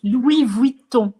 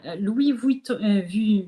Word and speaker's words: Louis Vuitton: pronunciations, because before you, I was pronouncing Louboutin as like Louboutin, and So it's Louis Vuitton.